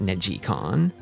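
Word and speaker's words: neGcon: It's spelled Neg Negggaon, but you pronounce it negon.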